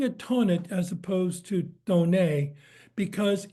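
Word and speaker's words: Thonet: you would pronounce it Tonnet. But if you're in Germany, where there isn't the TH is pronounced more as a T and an H separately, this is how I was told to pronounce it.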